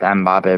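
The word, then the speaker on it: Mbappé: half and then like Mbappe boots went off in the second half. But it's pronounced Mbappe.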